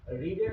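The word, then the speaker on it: read: will এর পরে ভার্বের প্রেজেন্ট ফর্ম মানে আমরা রিডের যদি ফরমটা দেখি তাহলে বি প্রেজেন্টে হয় আর ই এডি একই বানান শুধু উচ্চারণটা রেড হয় আর পিপিতেও রিড হয় একই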